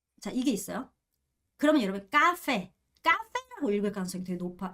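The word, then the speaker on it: cà phê: 이렇게 넣고 베 베 가페 카페 카페입니다 쌍 기억이에요 절대 절대 헷갈리시면 안 됩니다 그리고 지금 보면 얘가 f 발음으로 소리가 나고 있다는 거 보이시죠 가페 이렇게 생각하시면 되겠습니다 첫 번째는 크가 아니라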